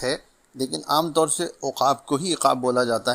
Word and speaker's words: عقاب: حاضر خدمت ہے ایک اور لفظ لے کر۔ تلفظ ایک لفظ روزانہ میں ہمارا آج کا لفظ ہے عقاب، جو درست ہے اس کے معنی ہیں شکاری،